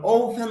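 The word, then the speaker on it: open: ঔ ঔ অনেকে অ বলে, অ হবে না, উচ্চারণ হবে ঔ। যেমন ওপেন the door, over the time, ওপেন the door, তাহলে ওপেন, ঔ উচ্চারণ হবে।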